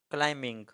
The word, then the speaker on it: climbing: For example کلائمبنگ، CLIMBING، اس میں B silent ہے.